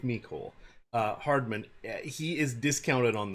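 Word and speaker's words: Mecole: and I've heard of I've heard of pronounced me Cole make-whole not Michael but I so I'm going with me Cole Hardman he is discounted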